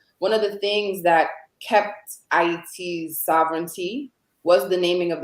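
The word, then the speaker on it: Ayiti: For those who are you're joining and listening in Creole, it's pronounced Haiti, right?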